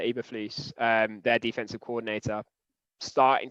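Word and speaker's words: Eberflus: matt e baflu so i think you pronounce it eva fleece um their defensive coordinator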